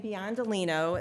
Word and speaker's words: Biondolino: So this is my name, Biondolino.